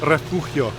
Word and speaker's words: Refugio: like i don't know i could say refugio which is the property proper way to say it but refugio del mar